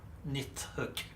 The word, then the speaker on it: Nidhogg: and by the way it nidhog is just like a an angle sized version of pronunciation I'm just using how it would sound in Australian English in Swedish it would be n hook um and it would probably sound more like nit nit hook in um like a earlier